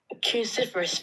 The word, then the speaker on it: cruciferous: Cruciferous veggies. you guys over here on YouTube, cruciferous. Let's try and say it everybody okay? Cruciferous. That's four syllables.